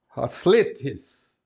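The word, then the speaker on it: ἀθλητής: Depois, outra palavra que todo mundo conhece, atletes, atletes. Alfa com espírito brando, as vogais são longas, são etas, e na última sílaba tem um acento.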